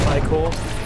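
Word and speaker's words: ichor: yes lovely collect zombie icker i'll get right on there so also uh sometimes pronounced thai core it's basically a sort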